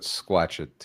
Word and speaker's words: Squatchachusetts: But there were some guys, Squatchachusetts. Let me say that right. I always get tongue twisted. They actually corrected me on how to pronounce Squatchachusetts. Like Massachusetts, but Squatchachusetts.